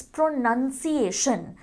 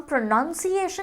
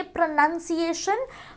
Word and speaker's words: pronunciation: इज the noun form, we don't say प्रोनाउंसिएशन, इट्स प्रोनाउंसिएशन। एंड सबसे interesting चीज़ ये है कि इवन व्हेन इट चेंजेस, उसका हम स्पेलिंग भी चेंज कर देते हैं। हम प्रोनाउंसिएशन नहीं कहते, वी से